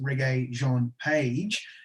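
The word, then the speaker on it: Regé-Jean Page: something and i think if i'm pronouncing it right and tony's suggesting that it's reggae john page i think he has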